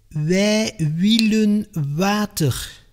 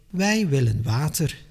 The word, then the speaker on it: wij willen water: I hear people from Wallonia say wij willen water. It is like you hear how they suffer with this sound, but it is not necessary. Keep it modest and easy.